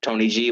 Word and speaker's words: TNYG: If you're just a regular consumer, you can find me on everything else, YouTube, Spotify, Pandora, under Tony G, again, pronounced Tony G, but spelled TNYG, no spaces.